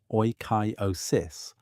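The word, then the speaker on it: oikeiosis: The Stoics used the concept of oyosis, pronounced roughly as oyosis, meaning appropriation or familiarization,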